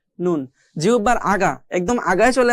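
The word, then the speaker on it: ن: এ পর্যায়ে আমরা যদি দেখি 9 নম্বর মাখরাজ এখানে দেওয়া আছে, জিহ্বার আগা তার বরাবর উপরে তালুর সঙ্গে লাগিয়ে একটি হরফ পড়তে হয়, সেটা হচ্ছে নুন।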